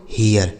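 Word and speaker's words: hear: यहां पर भी देखिए केवल आर का ही अंतर है लेकिन इसका उच्चारण बिल्कुल अलग है। एच से हो गया आपका ह इस इ ए का उच्चारण हो गया इ आर से र इसे पढ़ा जाएगा बच्चों हियर ठीक है हियर इसे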